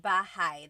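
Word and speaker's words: bahay: So it looks like bahi, but it's pronounced bahi. That a y combination is bahi.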